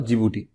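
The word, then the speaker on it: Djibouti: डी से start होता है, लेकिन प्रोनाउंस जिबूटी करते हैं, मतलब DJIG और BOUTI।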